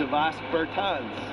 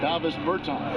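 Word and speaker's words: Dāvis Bertāns: Oh, well, Matt, at this point in my life, it's DeVos Bertans. Is that how you say it? Davis Bertans.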